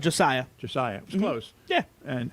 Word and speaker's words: Josiah: individually what your thoughts were about uh uh jose scott did i pronounce that right josiah josiah was close yeah and uh how you